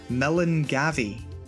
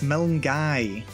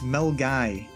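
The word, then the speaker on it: Milngavie: that's an interesting one if you think it's pronounced melon gavi you might be wrong it's melon guy go away yes mel guy the end's practically silent the v is basically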